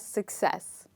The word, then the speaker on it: success: time you say this word say it as success okay now with this we look at the